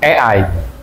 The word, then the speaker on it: AI: namanya materinya mengenal AI Ei ya. Mengenal mengenal AI tulisannya itu A I kalau bacanya e I. Kalau bahasa Inggrisnya begitu ya.